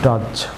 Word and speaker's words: dodge: যেমন DODGE এখানে D silent থাকবে। ডজ, আমার সাথে বলুন ডজ।